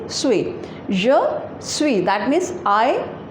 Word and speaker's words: suis: Along with je, we always use suis, suis, and the pronunciation is suis.